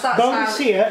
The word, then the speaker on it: Boadicea: Yeah, because Boadicea is the modern equivalent, linguistically, of how to pronounce it.